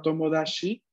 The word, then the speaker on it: tomodachi: otra cosa el síntoma gas y si tú pronuncia la palabra tomodachi y él escuchó y escribir tomodachi así y